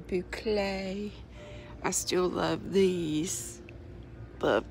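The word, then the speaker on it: bouclé: the boucle type yard looks like buco but it's pronounced boucle I still love these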